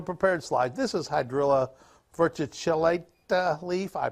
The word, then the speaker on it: verticillata: This is Hydrilla verticillata leaf. I pronounced that middle word wrong. Not correct. Verticillata.